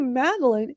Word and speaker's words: Madalyn: that in the dictionary so when I say maline because it otherwise it's going to spell it m a d e l i n e and it's like no that's not how you spell it.